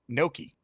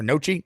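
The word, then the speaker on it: gnocchi: Beast, do you make Noki or Nochi? Noi. It's Nochi, right? It's pronounced Noki before. It's very Is it Noki or Nochi? I think it's Noki. I think I was right. Noki is Italian.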